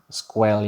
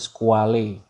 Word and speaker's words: Squale: Mungkin kalau pronunciation English-nya Squall ya, tapi sebenarnya dibacanya yang lebih tepat atau lebih mantep sesuai dengan aslinya itu dibacanya Squale. Squale. Nah, Squale ini dia dari bahasa Itali, itu artinya gambar ini